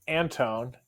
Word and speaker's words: Antone: So, first of all, it's Anton, and that's the main reason I am here to to officially correct the pronunciation of my name.